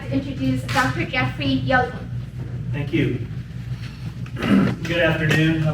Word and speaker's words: Jochems: So I tell people, if you're a Dwight Yoakam fan, that's how it's pronounced. Put an S on the end, that's how it's pronounced.